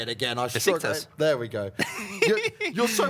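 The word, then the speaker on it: Beşiktaş: Good play there from BESKTAS. My goodness, I'm struggling to say it again. BESIKTAS.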